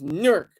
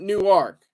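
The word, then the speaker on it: Newark: nerk you know it's nerk not new ark it's nerk it's spelled the same way but it's pronounced nerk um New Jersey but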